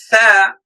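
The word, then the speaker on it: ث: Tha. How to pronounce this letter? The letter tha, we pronounce this letter with the tip of tongue when that's the bottom edge of upper central two teeth.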